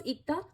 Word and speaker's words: 읽다: Okay, this was ikta because it was followed by a consonant. Whenever any bachim, that is in the lower position syllable, is followed by a consonant, then you pronounce it as ikta.